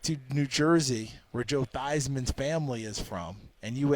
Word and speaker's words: Theismann: sports information director said we're going to change it to Theisman because it rhymes with Heisman and they were trying